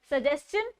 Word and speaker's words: suggestion: तो जब भी TION से पहले S भी जुड़ जाता है तो वो शन की जगह पर चन बन जाता है. The pronunciation of द two words is सजेस्शन और कंजेस्शन.